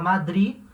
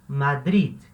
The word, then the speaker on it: Madrid: espanhol de madrid atenção essa palavra aqui que é pronúncia dela em português se fala madrid espanhol aquele ali vai ter um pequeno até uma pequena pronúncia naquele então vai falar madrid tá ele é o último de não é mudo tá ele existe então você vai falar madrid madrid beleza então esse foi